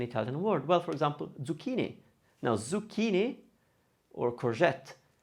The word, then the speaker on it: zucchini: But zucchini. That's a chi, C-H-I. And that's what we use for the k sound for ke and ki.